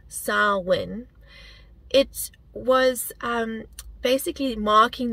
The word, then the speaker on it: Samhain: Gaelic Festival known as sarwin is where Halloween comes from the ancient Gaelic festival sarwin and it's spelled s-a-m-h-a-i-n but pronounced sarwin it was um basically